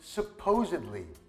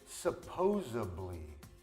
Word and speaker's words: supposedly: the next one is supposedly now some Americans pronounce it supposably but that's not even a word anyway supposedly means allegedly